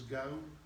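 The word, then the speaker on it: Geaux: of months, I'm beginning to remember how to pronounce their last names. I think G-E-A-U-X is go.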